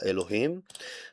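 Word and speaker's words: אלהים: In the beginning, God created will be in Hebrew Here for your pronunciation, bereshit bara Elohim.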